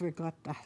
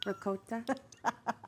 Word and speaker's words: ricotta: So it's almost like a Ricotta. soft G sound. Not ricotta. No. Who says it like that? Ricotta. Americans say it like that.